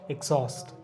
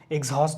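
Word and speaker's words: exhaust: এক্সস্ট, এক্সস্ট, এক্সহস্ট হবে না, এক্সহস্ট, হ এবার এইচ উচ্চারণটা এখানে থাকছে কিনা, এক্সস্ট, এক্সস্ট।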